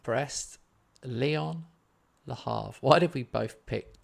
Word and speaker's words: Le Havre: Probably did in France, but seeing as all my viewers are English, I'll say Le Havre with a H.